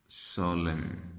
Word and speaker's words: solemn: इसी तरीके से एम और एन का कॉम्बिनेशन एंड पे आपने देखना है, नज़र आएगा तो वो एन साइलेंट हो जाएगा। जैसा कि होता है कॉलम, जैसा कि होता है डैम, जैसा कि होता है सोलम, SOLEMN, सोलम, ये एम सोलम।